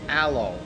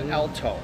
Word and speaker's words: Alo: player from ou jocelyn her name is aloe not elton yep so i apologize